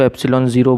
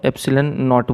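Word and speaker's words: epsilon naught: कुछ लोग इसको एप्सिलॉन ज़ीरो बोलते हैं, है ना, एंड सो ऑन। तो कोई बात नहीं, मैं इसको क्या बोलता हूँ, एप्सिलन नॉट बोलता हूँ। NCERT में यही प्रोनाउंसिएशन दिया है उसका, एप्सिलन नॉट।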